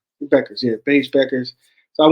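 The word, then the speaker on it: Bueckers: it buers Beckers the the you Ed is silent Beckers yeah beige Beckers so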